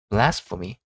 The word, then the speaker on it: blasphemy: 그러면은 한국말에서는 오음절입니다. 영어에서는 이음절이에요. 납득하기 힘드시죠? 납드가 힘들어도 받아들이셔야 돼요. 그러니까 발음할 때 bl for me blas for me blas for me 이런 식으로 발음을 하셔야 된다는 겁니다. 블 아닙니다.